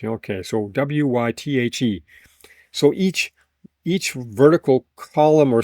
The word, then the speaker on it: wythe: How many wythes? Sound like you have a speech impediment when you say it, but how many wythes does this wall have? Wife? No, wythe. TH. Okay, so WYTHE.